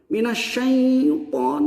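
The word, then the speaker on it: من الشيطان: Minasyaiton, minasyai. Padahal mah iya ini dari was tulisan tengah-tengah lidah.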